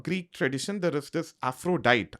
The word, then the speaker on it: Aphrodite: Similarly, in the Greek tradition, there is this Aphrodite, as you would say in the English language, in the anglicized version. She's Aprodite. That's how you pronounce her name in the Greek tradition.